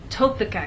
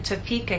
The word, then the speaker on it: Topeka: be misunderstood for example if you tell any American that you have friends in topa kenzas they're going to look at you and ask what country is that in what continent is that on but if you move the stress to the correct place and try again tell the Americans that you have friends in Topeka Kansas now they'll understand there is a state